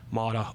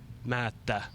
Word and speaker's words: Maatta: I started calling myself Maatta or Maatta, the English way. The original one would be Olli Maatta. So it's like a long A and long T. It's like almost you stop at the T.